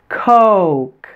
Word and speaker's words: coke: with the word coke coke did you stretch your oval out and glide from the O to the u sound o coke make sure your lip are also rounded I'd like a coke